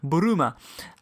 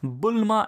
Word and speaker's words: Bulma: garment of bloomers in Japanese the enunciation of boomer is boomer and phonetically if you were to spell that out is B you are you ma over here in the West it has been pronounced Bulma and spelled bul ma the spelling of bloomers